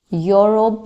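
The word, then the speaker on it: Europe: यूरोप लिखते हैं हम।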